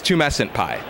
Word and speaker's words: TumescentPie: Did I say it right? Close enough. It's TumescentPie. TumescentPie.